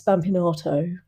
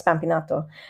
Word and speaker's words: Spampinato: way that I pronounce spampinato, Yeah. that's the English way, but how I pronounce spampinato makes her understand that I know some Italian.